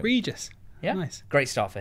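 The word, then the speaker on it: Régis Le Bris: think because he's Bron there's different pronunciations and the s's are to be pronounced so there Regis Reis liis Regis liis you say how you like but that's how we're going reges yeah nice great start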